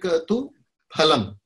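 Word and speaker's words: फलम्: So the correct pronunciation, it seems like Tu Phalam. Abhisandhayatu phalam. The children have a tendency to chant the fa, fa, fa.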